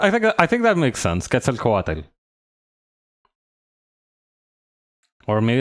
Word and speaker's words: Quetzalcoatl: Quetzalcoatl. Or maybe it's Qual. Oh wait, hang on. Wait, pronunciation guide.